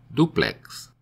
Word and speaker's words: duplex: In words ending in X, such as apex, index, latex, silex, duplex, and unisex, the X is pronounced as KS, so duplex is pronounced D-U-P-L-E-K-S, duplex.